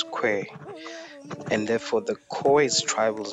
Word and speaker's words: Khoi: Africa I'm gonna die the word koi is pronounced as que and therefore the koi's